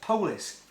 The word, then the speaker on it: police: are called the police even though it's spelled p-o-l-i-c-e it's still pronounced polis they pronounce dogs a